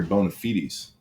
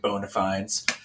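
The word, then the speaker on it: bona fides: don't you give your bone feedies prefer to pronounce it bonafides um yeah so i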